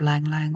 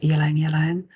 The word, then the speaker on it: ylang ylang: So they're sending through the aroma of lang lang oil. Some people pronounce it ylang ylang.